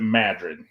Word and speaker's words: Madrid: was called Madrid it's spelled like Madrid Spain but they pronounce it Madrid sort of like New Berlin Wisconsin instead of Berlin yeah Full House back